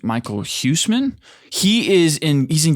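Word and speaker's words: Michiel Huisman: might work is um I think it's pronounced Michael Husman.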